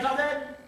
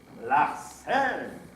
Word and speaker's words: Larsen: Je suis Larden. Larsen. Oh, pardon, Larsen. Je comprends, la quintessence de votre être tient dans le S.